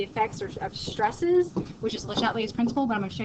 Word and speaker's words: Le Chatelier: Le Chat, it's not chats. Le Chatelier's principle. It doesn't really matter as long as you know what your principle is.